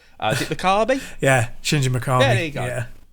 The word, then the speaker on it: Shinji Mikami: say the name because I always get the name wrong. Is it Mikami? Yeah, Shinji Mikami.